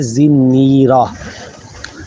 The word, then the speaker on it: زنیرہ: رضی اللہ تعالی عنہا، بہت سارے لوگ اس کو زنیرہ کہتے ہیں، یا مختلف لوگ مختلف تلفظات سے پڑھتے ہیں اس کو۔ اصل صحابیہ کا جو نام ہے وہ ہے زنیرہ، زا کے نیچے زیر، نون، تشدید اور زیر والا، را کے اوپر زبر اور آخر میں ہا، زنیرہ۔ یہ